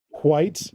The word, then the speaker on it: Whyte: We found this really, really cool collectible place at Edmonton called White Knight. White is spelled Whyte, and yeah, it's on this street called White Avenue.